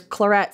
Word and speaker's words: claret: be kind of confusing because there's chlorette c-l-a-r-e-t which is that style of wine but this is Clara a grape c-l-a-i-r-e-t-t-e and they have like